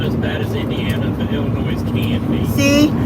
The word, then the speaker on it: Illinois: a little bit but Illinois is not as bad as Indiana but Illinois can be See the s is silent in Illinois but we say it